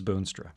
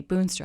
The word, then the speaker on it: Boonstra: Boonstra.